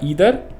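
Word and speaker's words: either: यू कैन से नाइदर, नीदर या यू कैन से नाइदर। और यहाँ पे आएगा ईदर या यू कैन से आइदर, ठीक है जी, जो आप प्रोनाउंसिएशन यूज़ करना चाहो कर लेना।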